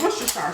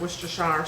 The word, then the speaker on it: Worcestershire: I'm a big fan of Worcestershire sauce. And it's a fun thing to say You know, and it's not spelled anything like you pronounce it.